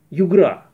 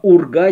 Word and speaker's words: Урга: получается говоря о михалкове он путает название его картины Югра Да хорошо звучит но во всяком случае на самом деле это полное название фильма Урга Территория любви уж полностью произносите а не Югра то есть вот это